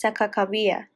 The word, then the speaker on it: Sacagawea: via according to harasser the correct pronunciation of her name is sakakawia however today many shoshone are